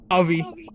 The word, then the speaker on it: Javi: It's pronounced like an H.